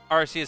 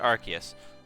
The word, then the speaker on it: Arceus: We're just gonna do some chill Arceus stuff. Or is it Arceus? I've heard so many people pronounce it so many different ways.